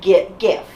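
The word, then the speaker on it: Giff: His name is Lord Gif. Or is it Jif?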